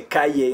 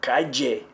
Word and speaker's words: calle: say, no, no, no, calle. They would correct my pronunciation. But many places in the Spanish-speaking world, they say calle. Okay, so that's the J sound you might hear for that.